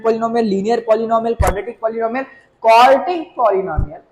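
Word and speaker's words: quartic: आई एम not saying क्वाड्रेटिक, आई am just saying क्वार्टिक। Spelling पे ध्यान देना। यहाँ पे डी है, यहाँ पे क्या है? टी। क्वाड्रेटिक degree 2, क्वार्टिक degree 4।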